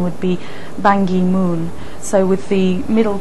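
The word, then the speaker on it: Ban Ki-moon: confirmed that his own preference for an English pronunciation would be bangi Moon so with the middle K pronounced as a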